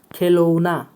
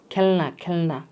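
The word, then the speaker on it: کھلونا: এরপরে দেখেন উচ্চারণটা দেখেন। খেলৌনা, ঠিক হবে তার খেলৌনা। খেলৌনা খেলৌনা অর্থ হলো খেলনা। বাচ্চোं के खेलने की चीज, বাচ্চাদের খেলার জিনিস মানে খেলনা। উচ্চারণ খেলৌনা, ঠিক আছে, খেলনা।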